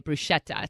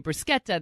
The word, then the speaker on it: bruschetta: like this you know we say bruschetta supposed to be a bruschetta there's croissant and cool